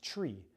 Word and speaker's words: three: radio according to ATP6-2.53 is still supposed to be pronounced tree, like a spruce tree.